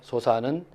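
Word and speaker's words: 疏食: 소사는 아주 이렇게 거친 밥입니다. 보통 이제 식자인데 이거를 밥을 먹는다. 이렇게 밥 할 때는 사로 읽고요. 먹는다 동사로 할 때는 식이죠.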